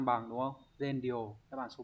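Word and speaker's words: 善良: đáp án đúng là s bằng đúng không Z đáp án số 3 này các từ còn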